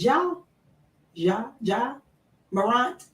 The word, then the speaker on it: Ja Morant: Now, I know, Michael, you mentioned about, am I pronouncing his name? Is it Ja Morant?